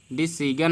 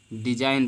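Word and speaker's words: design: तो इसको डिसाइन नहीं पढ़ते हैं, डिसीजन नहीं पढ़ते हैं, बल्कि डिजाइन पढ़ते हैं। जी को हम नहीं पढ़ते हैं, क्योंकि ये नियम है कि अगर एन के पहले जी आया है तो जी सदैव साइलेंट हो जाएगा।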